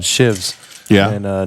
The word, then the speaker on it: sheaves: have to they're called shivs yeah and uh not the prison kind and good to know that's solid solid note there it's spelled sheaves but it's called a shiv and uh it go